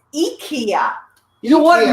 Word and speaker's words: IKEA: How do you pronounce where this came from? Is it not IKEA? Is it IKEA? It's IKEA.